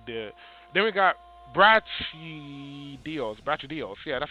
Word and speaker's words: Brachydios: Brachydios.